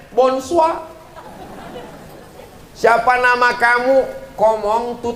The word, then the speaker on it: bonsoir: Tulisannya Bonjour bacanya bonjong tulisannya bonsoir bacanya wonshua siapa nama kamu ngomong